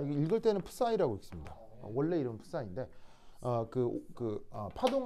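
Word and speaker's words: ψ: 이거 읽을 때는 푸사이라고 읽습니다. 원래 이름은 푸사인데 파동 함수를 나타내는 수식을 이게 푸사이라고 읽습니다. 근데 이제 푸사이라고 읽는데 이거 이제 약간 묵음처럼 처리해서 파이라고 읽기도 합니다.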